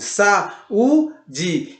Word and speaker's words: saúde: E você percebe que também tem um acento agudo e o U ele fica isolado em uma sílaba, tá bom? O U fica isolado numa sílaba, ou seja, sa-u-de. O U fica separado do A.